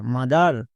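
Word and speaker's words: mother: Y money M ও টি এইচ ই আর মাদার এস ও ইউ এন D sound প্রত্যেকটিতে ও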